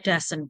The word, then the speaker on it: does: si heat pakai dasen ini bacanya dosen does not itu ya anak-anak untuk negatif